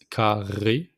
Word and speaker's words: carré: So make the accent with the R with the throat, so it's carré, le carré.